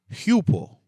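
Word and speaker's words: ὑπό: you're going to say hupo hupo. You're going to pronounce it with an H, right?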